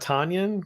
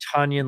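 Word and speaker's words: Tonyan: the Tanyan, Robert Tanyan? Tanyan, and then it was Tunyon, like Tunyon, Funyun, and then the right.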